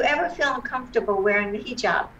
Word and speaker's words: hijab: feel uncomfortable wearing the hijab am i pronouncing it correctly yes totally correct i said totally correct